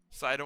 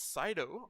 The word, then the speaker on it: Cido: Sido on the year hitting 280 in 25 at bats. Nine games played, no home runs and five RBI. Also struck out five times. pronunciation look like it's Cido.